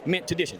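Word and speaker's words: Mintuition: Make sure you tune in to Mintition. I said it wrong. No, no, I got IT RIGHT. SIX, MAN. I GOT IT RIGHT, MINT TUITION. YOU KNOW, LIKE INTUITION, MINT TUITION.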